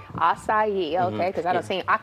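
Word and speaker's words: açaí: All right, so a lot of people, first of all, don't know how to pronounce it. So say it again. How do you say it? Acai. Acai, okay, because mm-hmm.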